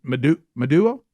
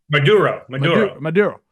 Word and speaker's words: Maduro: We have that name wrong. It's Maduro? Maduro.